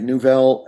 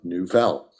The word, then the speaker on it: Newvelle: It wouldn't have come about without the involvement of Nouvelle, which is, we keep saying Nouvelle. This is an audio medium, so I'll just spell it. It's Newvelle, which, Elan, I'm sure you get questions about that all the time.